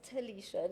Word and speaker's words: Tilisha: So me and the other two guys said, "It's Tilisha, Nick." And then he was quite quick on his feet. I was very impressed, with his quick-wittedness. Yeah. He said, "Oh no, I know. The T is silent."